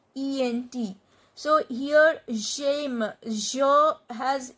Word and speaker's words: j'aime: So the pronunciation will be j'aime. Because if I do not cut this e, and I have to pronounce this j'aime, so there is no spontaneity in my pronunciation. J'aime. But if I cut this e and add this apostrophe, the pronunciation will be faster.